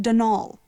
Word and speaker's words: Donal: the caretaker denial delaney not donald mind you there's no d at the end so it's pronounced denal that's the way you're